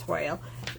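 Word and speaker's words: Toile: I think it's pronounced Toil, T-O-I-L-E. This paper is another fall paper option to the Gather Together suite that's in your online exclusive, and they are different.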